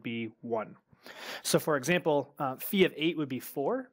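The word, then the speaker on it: phi: is the mathematician the totient is how you pronounce that word and then the the Greek symbol that represents the totient function is fee so kind of a circle with a vertical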